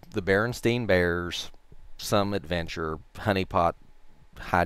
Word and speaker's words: Berenstein: the kids pronounced it Berenstein some of the kids pronounced it Berenstein and so I went with the again standard English pronunciation when two vowels go walking the first one does the talking so ste I n